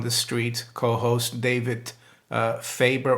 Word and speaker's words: Faber: street co-host david uh faber or faber if you wanna pronounce it in uh correctly uh as the germans would and i've got to